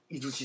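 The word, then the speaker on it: 出石: 出るに石と書いて伊豆市と読むと。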